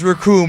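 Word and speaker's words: Recoome: ocean dub racum says my name is racum and rhymes with doom and you'll be hurting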